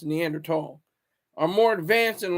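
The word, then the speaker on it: Neanderthal: they are so prehistoric in their value system neander tall and it's pronounced neander tall are more advanced in a lot of ways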